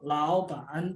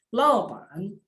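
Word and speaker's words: 老板: Lau nada 3, pan juga nada 3. Tapi bacanya bukan laupan, tapi dibacanya laupan.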